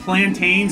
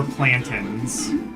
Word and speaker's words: plantains: Do you pronounce it plantains or plantins? Cuz I've heard people pronounce it plantins and that just feels wrong to me.